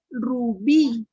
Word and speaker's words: Rubí: Rubí. En la I. Y como está acentuada en la última sílaba, ¿qué palabra es? aguda, Aguda.